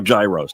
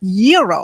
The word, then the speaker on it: gyro: in line at Papa Gyros I order the gyro Supreme suddenly the lady behind me chimes in it's pronounced Euro then the fella behind her says it's a gyro I turn my back